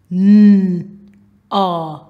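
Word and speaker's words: gnaw: N a na. Now here, the G is silent.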